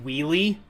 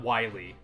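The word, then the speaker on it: Wily: Enix and Capcom where they're like it's actually pronounced wheelie not Wiley it's wheelie come on how did you guys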